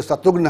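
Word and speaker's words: शत्रुघ्न: आप कहते हैं कि उनके नाम को लेकर कई बार कई तरह के लोग अलग-अलग देश के अलग-अलग हिस्सों में रहने वाले लोग अलग-अलग तरह से उच्चारण करते हैं किसी के लिए शत्रुगन है किसी के लिए शत्रु हं सिन्हा है किसी के लिए कुछ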